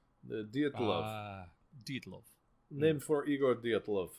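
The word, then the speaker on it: Dyatlov: You got to say it like it's a Russian. The Dietlov.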